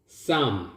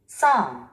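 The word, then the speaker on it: psalm: 알파벳 철자가 다섯 개인데 여기서 두 개가 발음이 안 됩니다. 묵음입니다. Some. Some. Some. 찬송가, 시편 이런 의미를 갖고 있습니다. Some.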